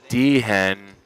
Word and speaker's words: Dehen: Michael Deian Dean Dehen. Yeah, the H is silent.